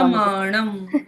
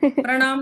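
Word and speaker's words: प्रमाणम्: correct अर्थ नहीं यस आगे देखेंगे प्रमाणम पढ़ रहे हो म नहीं दिखा प्रमाणम प्रणाम नहीं है ये प्रमाण प्रमाणम प्रमाण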